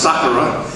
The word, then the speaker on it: Sakura: The name here in Seattle is pronounced Sakura.